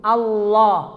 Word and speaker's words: Allah: Jadi bibirnya jangan ngikut, ngikut. Biar nggak muncul wawu. Allah, Allah, Allah, Allah, Allah.